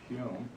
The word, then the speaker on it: Home: Hume. It looks like home, but it's pronounced Hume.